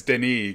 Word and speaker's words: Denis: And it's Denis because he's French.